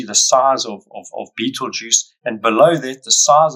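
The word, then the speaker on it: Betelgeuse: is this one called Beetle Juice funny sort of spelling but that's how you pronounce it Beetle Juice much like the juice that you drink and it's part of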